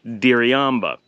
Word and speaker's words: Diriamba: it it looks like diriyamba and it is pronounced in the local accent where the r is very hard hit so it's essentially a light D so it's very difficult